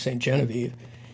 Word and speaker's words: Sainte-Geneviève: The Becket-Ribot house now pronounced Saint Genevieve, is a surviving example of French colonial architecture.